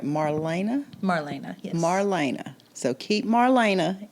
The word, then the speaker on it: Marlena: Marlena, yes.